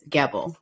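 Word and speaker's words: Gebel: your last name wrong it's g-e-b-e-l it's their last name so I believe it's gavel so the devil girl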